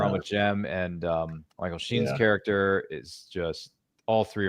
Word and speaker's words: Michael Sheen: Yeah, Michael Sheen.